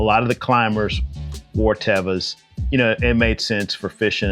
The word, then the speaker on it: Teva: Teva, which we call Tevas, but Teva is correct pronunciation.